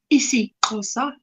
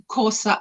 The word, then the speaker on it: isiXhosa: You say, one would say, the right way to say is isiXhosa and isiZulu, but it's what we would say, Xhosa and Zulu.